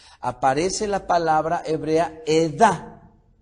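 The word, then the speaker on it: עדה: Aparece la palabra hebrea Edah. Sería acentuada, o mejor dicho, con una fuerza en la última, en este caso, sílaba. Entonces sería la palabra, como la podríamos pronunciar, sería Edah.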